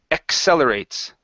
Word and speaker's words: accelerates: the word accelerates so with the Double C here the first one is e the next one is cell accelerates accelerates okay so the comet